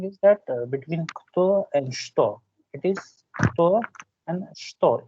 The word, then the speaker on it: что: It is not cha. It is not cha. We write with cha, but it's not cha. It's sh, sh, sh, sh, sto, sto это, kto это.